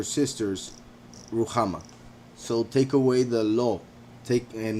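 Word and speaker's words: לא: so take away the law take and not meaning but meaning the the word no in hebrew which is pronounced law so yeah hopefully no misinterpretation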